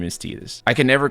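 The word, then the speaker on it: Tidus: discussion about the cannon, then his name is Tetus.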